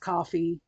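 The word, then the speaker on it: Ko-fi: fantastic couple on the I guess is pronounced coffee even though it's spelled Kofi K do- fi um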